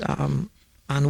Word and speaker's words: Anne: Virginia Annie Walton, Mrs. Anne. It's pronounced Anne.